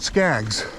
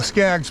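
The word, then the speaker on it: Skeggs: locals or people on this area call it skaggs it's spelled s-k-e-g-g-s and there's a skaggs point out here which is probably where the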